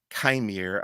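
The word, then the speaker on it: Qimir: Continuing with the cast, Manny Jacinto is Chimere, I believe is how it's pronounced, or is how May pronounces it.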